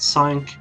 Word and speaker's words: Cinque: it should be pronounced sank but it is actually sync because it's shinku in japanese so sink is what i'm going